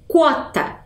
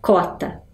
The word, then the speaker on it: quota: a pronúncia dessa palavra então eu digo quota Mas eu também posso falar cota né a cota quer